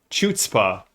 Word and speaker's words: chutzpah: learned that word and i mispronounced it for years until i met a friend who spoke enough yiddish to say it is not chutzpah but so yes this